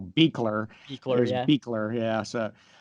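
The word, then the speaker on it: Buechler: I used to call him John Carl Buckler, but of course his name was John Be- Carl Beekler.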